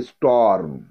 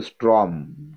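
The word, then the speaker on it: storm: Number 2 স্টর্ম। অনেকে উচ্চারণ করো স্ট্রম, কিন্তু এটা স্টর্ম। স্টর্ম, মটা আগে হবে।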